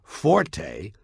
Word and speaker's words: forte: It's pronounced fort. The Italian word forte, F-O-R-T-E, used in music notation, is pronounced forte, and it instructs the musician to play loud.